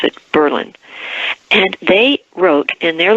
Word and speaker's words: Berlin: of Berlin it spelled like Berlin but they pronounce it Berlin and they wrote in their local ordinance that